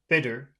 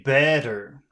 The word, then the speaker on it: better: if you say yes if you say uh bitter that that might be difficult to understand yeah can you say better better what about the word